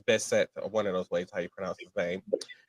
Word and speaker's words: Bessent: had a physical altercation with Treasury Secretary Scott Bessent. I think that's how it's Bessent, or one of those ways how you pronounce his name, in the West Wing of the White House.